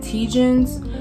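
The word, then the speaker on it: TGIN: My favorite right now is by a brand, I believe you pronounce it Tegens, but it's like their rose water line.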